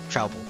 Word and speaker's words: Truple: Half trout and half apple, pronounced like mouthful. Trouble.